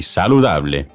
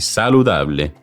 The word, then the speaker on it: saludable: Porque es muy delicioso y saludable. I said, because it's very delicious and healthy. El ajo es muy delicioso y saludable. The Spanish word saludable, when pronounced with an English accent, sounds similar to saladable.